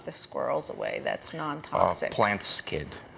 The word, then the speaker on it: Plant Skydd: Plant Skid. It's spelled Plant SKYDD.